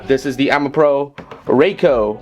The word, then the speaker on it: Raco: is the AMA Pro Rico or Rocco you know based on my poor pronunciation from Ford and Mike the actual Japanese pronunciation in the second one as seen from